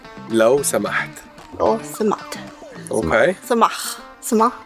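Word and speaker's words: لو سمحت: And please we say law samaht. Lo samat. Law samaht.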